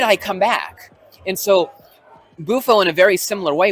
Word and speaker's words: Bufo: Now in Bufo, right?